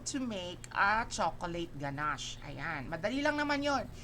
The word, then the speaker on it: ganache: Next is the chocolate ganache. Ayan. It pronounced ganache, not ganache. It's ganache.